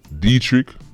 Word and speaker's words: Dietrich: So his name is pronounced Dietrich, but for the purpose of Politics Watch, that man's name is Diet Rich.